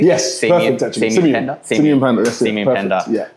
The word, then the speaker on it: Simeon Panda: Am I pronouncing your name correctly? Yes, perfect actually. Simeon Panda? Simeon Panda, that's it.